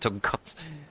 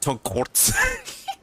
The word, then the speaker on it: tonkotsu: there, but I'm sorry, this kid's pronunciation of tonkotsu, it feels like he said tonkotsu. Tonkotsu. I'm sorry. This pronunciation tonkotsu, it feels like he said tonkotsu. It sounded like an R was added.